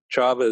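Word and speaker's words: Csaba: by the name of chaba toff t-o-t-h chava is spelled c-s-a-b-a and he's written a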